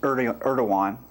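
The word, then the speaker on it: Erdoğan: Turkish President, which is pronounced Erdogan, barely survived a coup attempt in July of 2016 and later cracked down on suspected coup conspirators by arresting 32,000 people.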